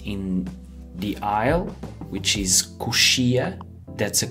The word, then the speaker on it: coxia: If your seat is by the window, which is a janela, or maybe your seat is in the aisle, which is coxia. That's a coxia seat.